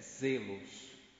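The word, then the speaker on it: ζῆλος: A pronúncia correta é zelos, como a pronúncia em Edson, a letra zeta, que aqui nós chamamos de zeta, em português, Z.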